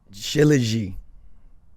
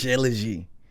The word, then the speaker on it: Shilajit: I can let me see if I can find it, and then and I'll also mention another because Shilajit. I don't even know how to spell that.